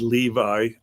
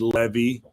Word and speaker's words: Levi: about myself roaching right I said Levi I could have said Levy right that would be the Hebrew pronunciation and he said you